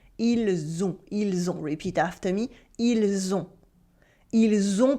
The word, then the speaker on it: ils ont: For now, just notice how the S at the end of il sounds like a the sound at the end of it. Ils ont.